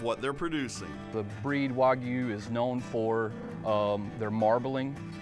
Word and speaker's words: Wagyu: so we raise uh wagyu as a correct pronunciation while you hear a lot of people say wagyu or wagyu but the correct one is wagyu the meat is processed